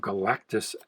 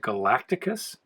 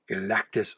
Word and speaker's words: Galactus: the door 159 some galactus action when i was a kid i don't know why i used to pronounce it galacticus i added an extra syllable and i was like